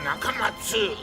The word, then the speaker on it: Nakamatsu: He dropped the letter U because he says an 8-letter name is easier to remember, but he still wants you to pronounce it Dr. Nakamatsu.